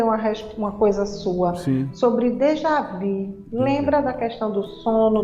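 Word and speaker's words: déjà vu: história eu até pronunciava eu até pronunciava Dejavu né mas é dejavi é Dejavu é escrita mas dejvi né que tem um biquinho porque é uma pronúncia francesa que é já vum né Eu já vi então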